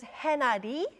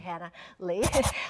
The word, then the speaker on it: Hannah Lee: Hannah Lee um well in Korean like it pronounces henady so um people think um my surname is and some people call me but it's actually Hannah Lee um I'm a singer